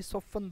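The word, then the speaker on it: soften: तो number three, सॉफ्टन the blow, सॉफ्टन the blow नहीं, सॉफ्टन द T silent है यहाँ पर, सॉफ्टन द ब्लो, इसका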